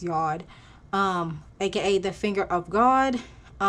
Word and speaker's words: yod: pattern that is formed, whether it's a yod or yod. I believe it's pronounced yod, aka the finger of God, T-square, grand trine, those aspects.